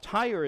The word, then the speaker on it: Tyre: up with verse 2 now tyre is different than the tyre that we're accustomed to which is TI re but it's t y r even though it's pronounced the same tiya was a very powerful